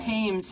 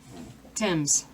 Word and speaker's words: Thames: all right Oh sue from Indiana says that tames has more of an a sound in the